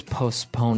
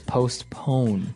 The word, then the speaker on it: postpone: So that's the way that you use postpone. Now, it's interesting because you have a P in between there, so it's postpone. Postpone. Yeah, it's an interesting word to pronounce.